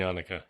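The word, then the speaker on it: Janneke: Dutch kids Yip and yanuka okay okay and yanuka of course that's a pretty bad rhyme with Hanukkah is that the dude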